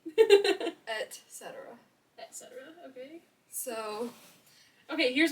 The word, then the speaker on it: et cetera: Actually, it's not pronounced like that at all. ETC? Et cetera.